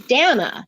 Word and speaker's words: Dana: D my name is Dana D is it really that difficult for you yes D Dana rhymes with banana let's try D you